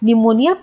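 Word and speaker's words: pneumonia: लेकिन निमोनिया पी से start होता है। तो पी से स्टार्ट होता है। ये लोगों को नहीं पता होता है क्योंकि पी साइलेंट होता है।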